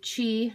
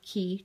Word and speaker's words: Qi: so it has obviously chi which is spelled q-i it's not key chi chi or induction wireless charging